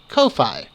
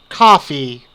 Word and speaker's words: Ko-fi: learned of something called Kofi or coffee it's just spelled with a k for some reason anyhow